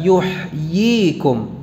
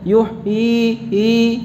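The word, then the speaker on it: يحييكم: yuhyikum Yeah ini ia ianya tidak dibaca sebagaimana Antum barusan membacanya yuhui atau uh i-you hyy come iya giginya jelas ye dari tengah lidah jadi tidak dibaca begini yuk Ih bukan yuhyi yeah begitu lega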